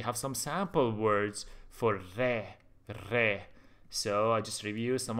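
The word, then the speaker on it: ر: practice improve your writing the next letter is re re re re is the name and it pronounced like hard in English re re you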